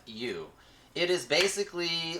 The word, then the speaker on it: Sifu: We've also got, I think it's pronounced, is it Sifu or Saifu? Sifu.